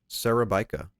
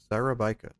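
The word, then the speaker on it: Szarabajka: His last name is pronounced Sarabika. Sarabika.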